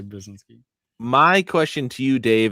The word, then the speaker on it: Brzezinski: Uh He says Brzezinski. But look how it's spelled. Just say it quickly. Rob Brzezinski. Brzezinski.